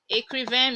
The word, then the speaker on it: écrivain: I told you earlier, if you see this sign on an E, you pronounce it as A. So you say écrivain. Vin. Vin. This is a nasal sound.